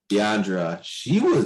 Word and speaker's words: Deandra: How do you pronounce her name? Deandra.